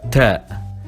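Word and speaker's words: ت: Then we have ta, written exactly like ba, but this time with 2 points on top of the letter, and we pronounce it t, like a normal t.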